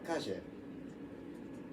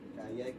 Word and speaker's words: Calle: It's like, oh, Calle. That's how you pronounce it, because it's Spanish, not Calle, Calle, Calle.